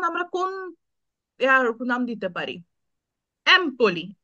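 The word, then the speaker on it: Empoli: এটা এ তেমন আমরা কোন নাম দিতে পারি এমপলি এ তে শহর থাকতে পারে এমপলি হুম এ কমে এমপলি তো এমপলিটা যদি ই দিয়ে উচ্চারণ করি ইমপলি তাহলে কি হচ্ছে জি না তাহলে হবে না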